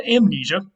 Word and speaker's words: amnesia: how about amnesia now we don't drop the m here because there's something at the beginning that allows us to keep the m there and pronounce it the way we like to pronounce things in english so you have amnesia